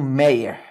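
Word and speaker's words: Méier: falar no meer meer repara na palavra meer ela é palavra paroxítona olha aqui ó Mei meir é aqui que eu separo Arnaldo mas na palavra mei esse Ei não é de tongo aberto cuidado Repara bem ele parece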